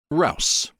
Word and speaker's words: rouse: Rouse rhymes with house to scold.